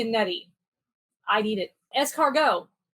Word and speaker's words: escargot: nutty i need it escargot escargot not escargot the tea is silent it's snails you give